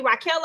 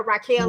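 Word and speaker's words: Raquella: that what you say her name is actually raela because I've been calling her Raquel like she gon Beck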